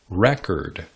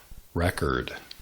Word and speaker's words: record: En muchos casos, el sustantivo tiene énfasis en la primera sílaba, mientras el acento en el verbo cae en la segunda o tercera sílaba. For example, the noun record.